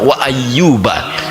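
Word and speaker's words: وَأَيُّوبَ: Bisa bagi Allah mengatakan wa ayyubu, tapi di sini Allah memulai dengan fathah wa ayyuba.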